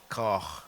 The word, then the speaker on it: Koch: Over to you, Lady Rachel Nathaniel Koch. I hope I've pronounced your name correctly. Koch. Koch.